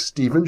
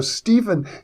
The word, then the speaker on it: Stephan: Now, Stephen is known, or Stephan, I guess is the correct pronunciation of his name, spelled S-T-E-P-H-A-N. Anyhow, he's known for his